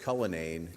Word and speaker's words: Cullinane: We pronounce it Cullinane in America. I didn't discover I was pronouncing my name wrong till I moved here. I guess it's Cullinane or something like that.